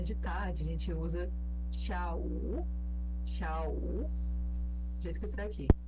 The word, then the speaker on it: 下: Então, para falar de tarde, a gente usa xiao, do jeito que tá aqui. Xia, Não é tchá, né? não, é com X mesmo.